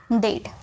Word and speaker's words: dead: कुछ वर्ड में EA का उच्चारण A में भी होता है। बहुत सारे ऐसे वर्ड्स होते हैं जहाँ पर EA को A में प्रोनाउंस करते हैं, जैसे कि DEAD। तो यहाँ पे आपको दिख रहा होगा EA, तो इसे A में प्रोनाउंस किए तो हो गया डेड। HEAD, हेड।